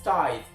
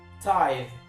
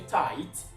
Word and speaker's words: tithe: it makes you rhyme people often rhyme it with tight t i g h t that is not the right way to pronounce this word t i t h